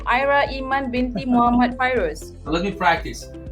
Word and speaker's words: Ayra Iman binti Muhammad Fairuz: You have to pronounce the full name. Ayra Iman binti Muhammad Fairuz. So let me practice. Ayra Iman binti Muhammad Fairuz.